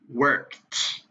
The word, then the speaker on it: worked: this word the idi it is worked the ed makes a t sound so that is your